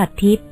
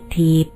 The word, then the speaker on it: ทิพย์: ว่า นั่น แหละ อ้อ ต้อง ออก เสียง ว่า ทิพย์ หรึ อาตมา นึก ว่า เขา เรียก ถีบ คน ฟัง พา กัน